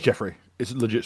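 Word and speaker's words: Giuffre: Virginia. G I U F R E. It's Jeffrey. Is it legit spelled or Jeffrey or goof? Oh my god. Did it crash again? It's either Jeffrey or Goof.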